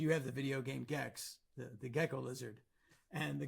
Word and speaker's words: Gex: Jex. Who the pronounced Jex? Goes into this video store, I think in Toronto, and he says, "Do you have the video game Gex?"